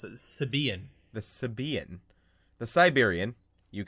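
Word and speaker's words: Sybian: The accent is on the second syllable. It's Sibian.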